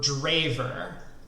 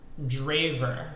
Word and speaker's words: Drijver: like this is exciting for the record it's pronounced draver draver gotcha oh man is